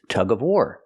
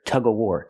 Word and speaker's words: tug of war: of the game is Tug of warar they're playing tug of warar and sometimes people don't pronounce the V and of and you'll hear tug ofar tug of- War both pronunciations are used tug of warar or